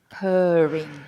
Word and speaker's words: purring: is the uh sound I always call that the vomiting vowel sound it sounds like is is that what you say the vomitting I call it the vomiting vowel because it's the one that sounds like when you're feeling ill and you go so it's purring uhhuh you remember Fiona